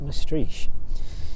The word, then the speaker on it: Maastricht: That one leaving East Midlands Airport yesterday evening on its first flight from East Midlands over to, I think it's pronounced Maastricht.